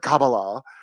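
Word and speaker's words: Kabbalah: I have to say kabala now because I've been looking that's how you pronounce it like karate. It's pronounced kabala.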